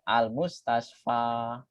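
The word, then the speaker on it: المستشفى: Bersembunyi di dalam alif sehingga bunyinya tetap al-mustasfa.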